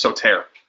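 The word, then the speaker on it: σωτήρ: It's soter. Rhymes with pater.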